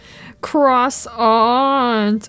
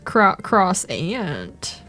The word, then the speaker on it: croissant: Croissant or cross ant.